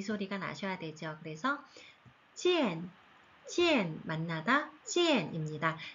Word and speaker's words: 见: 그래서 지엔, 지엔 만나다 지엔입니다.